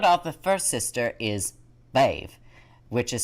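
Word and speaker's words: Badb: garlic to start off the first sister is babe which is spelled as b-a-d-b but pronounced b-a-i-b-v-e she is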